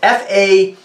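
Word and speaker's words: Façonnable: It's F-A-C-O-N-N-A-B-L-E. This is an eau de toilette. This is from a French house. Faconnable is a French house.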